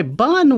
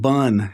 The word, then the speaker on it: BUN: It's not bun, it's B-U-N, and this is a lab value. It stands for blood, urea, nitrogen, and that's how it's pronounced, B-U-N.